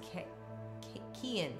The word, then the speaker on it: Kian: to be honest my name is pronounced k Ian Kian from Ireland got it Kian that